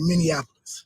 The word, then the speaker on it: Minneapolis: I had it wrong everybody says minap because of Indianapolis Indianapolis is how you say that but uh in Minnesota you say Minneapolis Minneapolis Minneapolis Minnesota okay man